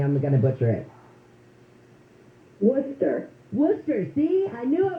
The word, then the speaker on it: Worcester: our country and I'm going to let Karen wus is it Karen will you pronounced your last name for me I'm going to butcher it Worcester Worcester see I knew I was going to